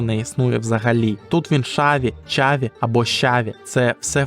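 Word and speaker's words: Xabi: наприклад звідки сам Алонсо він вже шаві чи чаві бо тут буква х звучить як ша або ч але ж в його імені є буква П куди вона ділася Спитаєте ви а іспанці просто вимовляють її інакше щось середнє між б та в але писати і говорити правильніше саме в звернімося до правил вимова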